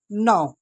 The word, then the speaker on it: know: जब हमें कोई चीज पता होती है तो उसके लिए हम यूज़ करते हैं नाउ। नाउ का मतलब होता है कि जानना। यहां पे के साइलेंट है।